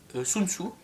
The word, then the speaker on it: Sun Tzu: alors son nom s'écrit de différentes manières, vous voyez, là il s'écrit TSE, mais c'est Sun Tzu quand même.